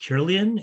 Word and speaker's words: Kirlian: The first question is when, and I believe it's pronounced Kirlian, is that correct?